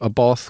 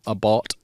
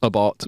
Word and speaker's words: Abarth: them under the tag abath which technically should be called abart what AB should be pronounced abart which is after the founder call aart I've been saying it wrong all this time and